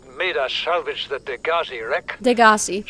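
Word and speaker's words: Degasi: Degassi, that's how you Set pronounce Bart it.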